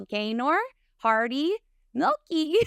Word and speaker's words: Gaynor Hardy-Meilke: guest with me today I have the wonderful gayor Hardy milky did I say that right yes yay okay